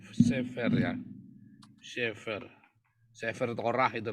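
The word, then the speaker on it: סֵפֶר: Ini bacanya Sefer ya.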